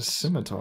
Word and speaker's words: scimitar: skimpter? I've always said Skimpter. It's a scimitar. Yeah, it's scimitar.